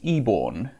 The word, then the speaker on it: Eborn: quickly from your message my last name is pronounced eborn as in e as in the letter e and born as in what you're